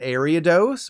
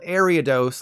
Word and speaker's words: Ariados: can cite yourself out I originally thought this was called Aria dose but after hearing a few people call it ariadose I change my tune like a cricket because Arya dose sounded more right and kind of made me feel like a pirate Well turns out my original guess was correct as the evolved form of spinarak is officially called aridos like aripota if you've seen every